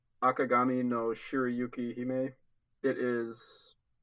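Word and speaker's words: Akagami no Shirayuki-hime: white with the red hair or let me pronounce this right ah Kagame no Shirayuki he may it is like a historical show I believe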